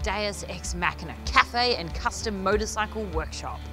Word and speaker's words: Deus Ex Machina: today in Sydney we head to cam pronounced deus ex machina cafe and custom motorcycle workshop cultural pioneer in